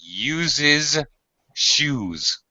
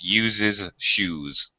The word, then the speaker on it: uses shoes: you're a fan okay I want to correct your pronunciation slightly uses shoes it's a little hard to say so Mickey Mouse uses shoes Okay uses shoes okay be careful of the sh uh you don't want